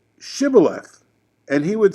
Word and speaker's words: shibboleth: don't need a passport just say shibboleth which means river and they would say sybil because they couldn't pronounce it and that means burden